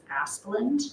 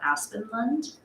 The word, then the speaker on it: Asplund: Under the water and wastewater servicing required upgrades, I believe that it is Asplund, not Aspenlund. And then directly below that, under operational cost sharing, Reeve Shepherd's name is spelled wrong.